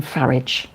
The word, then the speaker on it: Farage: Scott, yeah, Farage, the epitome of creep. And yeah, I don't call him Farage. I call him Farage cuz it's spelled like garage.